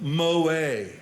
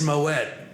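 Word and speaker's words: Moët: So I said, we'll have a bottle of Moet. It's Moet.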